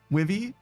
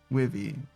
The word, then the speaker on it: Wivy: Myra Wyvern says it's hard to type, but they'll use a short I sound. Oh, Wivy? I see. Wivy.